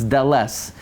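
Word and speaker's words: דלת: You know, we mispronounce the daled. There's no letter daled, it's deles. It's aleph, beis, not beis, beis, gimel, dales, dales. Okay?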